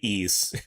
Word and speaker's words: Ys: Um, it's so hard to say ease. Nobody knows what you're talking about when you say ease. You got to spell it out and then they know.